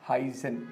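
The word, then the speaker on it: heißen: that this beta is a double S sound hence heissen it's not a B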